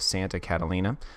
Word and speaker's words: Santa Catalina: of us in arequipa so I misspoke earlier and pronounced the name of this monastery incorrectly it is actually the monastery of Santa Catalina the name comes from the st.